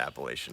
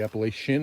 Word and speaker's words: Appalachian: this trail it's the appalachian trail the appalachian or chin it's the shin absolutely where are you from